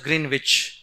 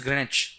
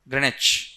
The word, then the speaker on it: Greenwich: Many people pronounce it as Greenwich, but it is Greenwich. W silent here. UK English may. Greenwich.